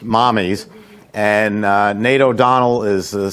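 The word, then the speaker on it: Mamis: It's Italian for mother, and it's spelled M-A-M-I-S, which they say is mommy's. You look at the spelling of it, and you think You have it's an the lady's agenda name, for today? Mamie's, but it's pronounced mommy's.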